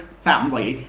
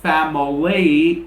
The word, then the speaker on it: family: word because the word family is not divided or it does not have three syllable it has only two syllables this reminds me of